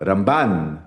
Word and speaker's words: Ramban: Então o que o israelense faz é ele bota o acento na primeira sílaba quando é o maimôides, então é rambam. E para falar do narmanides, ele fala ramban. Então, Ramban com N é o Nahmanidis e Rambam é Maimonides.